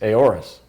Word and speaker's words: AORUS: I pronounced it what how do you pronounce it a or s a horas z3 yeren a horas yes cz 390 pro Wi-Fi